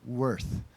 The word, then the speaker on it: Worth: His name is Jaden Worth, rhymes with girth.